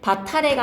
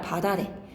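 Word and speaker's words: 밭 아래: 바탈레가 아니라 바다래. 맛있다가 아니라 맛 있다로 발음을 해야 되는데 원칙은 맛있다이지만 사람들이 하도 맛있다 맛있다를 해서 허용이 된 거예요.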